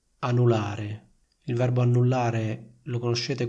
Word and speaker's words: anulare: Annullare, anulare, annullare, anulare. Vedete, la N singola viene pronunciata molto più rapidamente ed è meno forte.